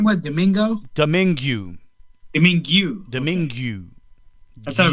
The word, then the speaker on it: Domingue: Tony Domingue. One doesn't simply... What did you say his name was? Domingo?